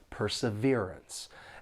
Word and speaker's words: perseverance: For pronunciation, this word has four syllables, and the stress is on that third syllable, perseverance. And the second and fourth syllable have that unstressed schwa sound. Sounds like uh perseverance.